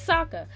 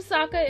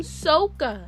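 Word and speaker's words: Sokka: said it like that it's Saka they call him Saka in the show they were calling him SOA SOA again it's not copyrighted call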